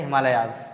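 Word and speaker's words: Himalayas: हिमालयाज generally उसको pronounce क्या किया जाता है, हिमालयाज, राइट। तो यहाँ पर जो हिमालय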